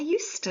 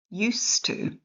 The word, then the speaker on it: used to: I used to live in Japan. I would speak Japanese every day. When I lived in Japan, I'd cook Japanese food. Sometimes I cooked kiwi food, too. Pronunciation used to and use use as a verb has a